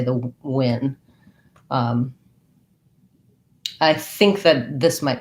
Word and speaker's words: Nguyen: I think that you can say it like Win.